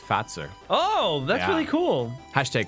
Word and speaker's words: Fazer: fazer on the box there but it's actually pronounced fat sir oh that's really cool hashtag Finn facts in